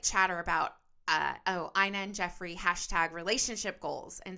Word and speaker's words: Ina: Her name is pronounced Ina.